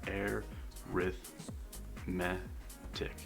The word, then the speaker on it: arithmetic: same value each time you can pronounce it like this you would say air with me tick and so when we're